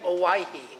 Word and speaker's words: Owyhee: Oi, what's how do you pronounce that? Oe canyon. Hawaii. Hawaii. So like Hawaii.